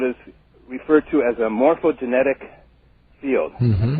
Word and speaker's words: morphogenetic: Well, Rupert postulates the existence of what is referred to as a morphogenetic field.